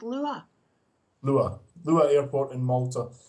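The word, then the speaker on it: Luqa: Malta the pronunciation it's it's called it's apparently pronounced Lua Lua Lua airport in Malta is where the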